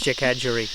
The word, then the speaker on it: Jackadgery: Yes, I'm mispronouncing it to something very, very bad. So it's Jackadgery.